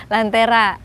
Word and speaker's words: Lantérha: Lantera. Lantera. Ya, Lantera. Tulisannya LANT Pepet. Ya. RHA. Jadi kalau ejaan yang betul itu Lantera. Iya, Lantera. Kadang masuk ke Indonesianya itu jadi Lantera gitu.